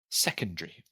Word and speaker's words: secondary: right sure and then same with secondary oh it's a r y but we just say secondary primary very secondary very